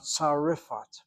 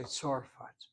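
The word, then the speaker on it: צרפת: And if you really want to be fancy schmancy, it should be a long Aminu Kamat Tzarifat. I won't be surprised if that's the proper pronunciation. But no one says Tzarifat. They say Tzorfat.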